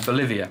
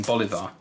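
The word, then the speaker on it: bolívar: one fundamental thing wrong I pronounced the currency uh Bolivia rather than Bolivar and the amount of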